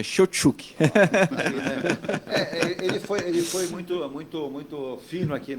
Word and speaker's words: Cheutchuk: E estou à disposição e realmente acertou exatamente o sobrenome, tá? Realmente é Shotchuk.